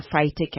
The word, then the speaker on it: phytic: Tell me about that phytates and the phytic acid. Did I pronounce that correctly?